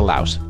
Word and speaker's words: Laos: We saw Thailand, we saw Cambodia, we saw Vietnam, but we didn't get to Laos, and or Lao, depending on how you say it.